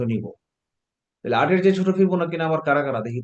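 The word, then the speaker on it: Fibonacci: ফিবোনাক্কি একজন বিজ্ঞানীর নাম, গণিতবিদের নাম, ডাবল সি উচ্চারণ ক, ফিবোনাক্কি।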